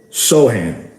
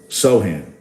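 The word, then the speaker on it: Sochan: It is pronounced Sohan. Sohan.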